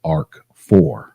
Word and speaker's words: RC4: of RSA security and it's also sometimes pronounced Arc 4 now rc4 it uses